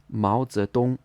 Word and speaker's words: Mao Zedong: So it should be pronounced with a second tone, then a second tone, then a first tone. Mao Zedong, Mao Zedong.